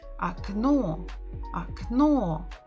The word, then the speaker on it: окно: Окно. The stress is on the final syllable.